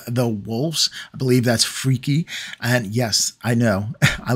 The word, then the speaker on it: Freki: right and he's and I looked it up how to say it and that's the way you say it in Gary and freaky so okay time for